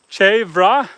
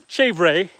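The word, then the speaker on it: chèvre: You don't say the e, but you have to pronounce it.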